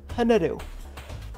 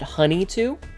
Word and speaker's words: Hnetu: one of two ways technically my name is pronounced hanadu like the like aha sound ha too um however as a lot of people seem to have trouble with that one which I understand um I pronounce it uh I I often tell people to pronounce it honey too like like like the delicious treat that you get honey and the number two which is also acceptable